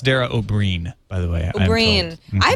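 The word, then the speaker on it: Dara Ó Briain: It's pronounced Dara O'Brien, by the way.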